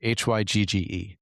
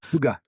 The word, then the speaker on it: hygge: but there's also the help me with the pronunciation of this word. It's the Danish word h y g g e. hygge hygge Okay.